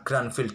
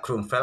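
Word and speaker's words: Grünfeld: dimainkan oleh Richard rapot jangan protes ya kalau admin mengucapkan Grandfield defense itu lebih mudah di lidah admin kawan lidah orang Jawa mungkin cara bacanya nama grandville bukan grandvilleel ya grunfel atau apa terserah jangan protes Nah di sini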